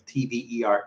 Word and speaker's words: Tver: The Afanasy Brewery is in Tver, which I could be pronouncing wrong. It's Tver, Tver, Russia.